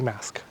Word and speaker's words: Marske: If I keep calling it Marske, it's because it's just how it's spelt, but it's meant to be Marske.